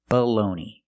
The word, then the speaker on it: bologna: Baloney. The first word is baloney, and the second word is baloney. The first vowel is the short uh sound uh like cup and up.